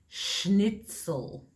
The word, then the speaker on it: schnitzel: because i was remembering how many of my students mispronounced this it's schnitzel okay so let's go